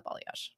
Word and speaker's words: balayage: on the bottom yeah a balash it's a stupid name I couldn't say it for the longest time I was like are you saying it right yeah I am are you sure how do you spell it b a l a y a g e I would never say it like that bage b gag ball